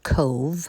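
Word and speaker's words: Cobh: And this is C O B H but it is pronounced Cove like we would say C O V E.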